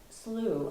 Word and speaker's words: slough: And just for the record, slough, I believe, is spelled S-L-O-U-G-H, and that's how I would pronounce it too. That's different ways of pronouncing it, but Yeah. I think that's... Sometimes you hear the British readers on the book on tape talking about the slough, but no, we call it slough.